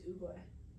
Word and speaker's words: Oogway: Yes, it's Oogway.